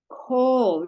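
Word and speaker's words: כל: Kol. Remember when you have a chaf or a kaf and a kamatz, lamed. It spells kol. This kamatz is the O sound, and it means all or whole.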